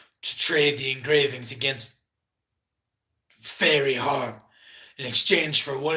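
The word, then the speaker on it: Feyre: Okay, the person's name is Fair, spelled different, so that might get a little confusing when I pronounce it, but Fair is the name of the main character, it appears.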